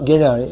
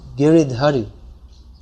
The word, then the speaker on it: Giridhari: If I say, someone might explain, actually it's not Giriyai, it's Giridhari.